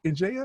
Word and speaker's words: Ndiaye: i am super excited to have gray and jaya is that how you pronounce it in jaya is that right that is how you pronounce